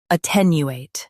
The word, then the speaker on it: attenuate: Attenuate. Both US and UK have the same pronunciation of this word. Stress ten. Keep you light and finish with eight clearly.